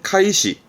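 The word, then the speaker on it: 開始: 그래서 대표적인 부분이 개시 시작한다라는 의미의 개시, 발음은 카이시, 카이시. 요 개자의 음은 카입니다. 그래서 카이시.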